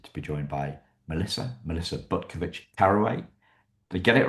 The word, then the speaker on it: Butkovich-Carraway: Today, I'm delighted to be joined by Melissa Butkovich-Carraway. Did I get it right? Yes, you did.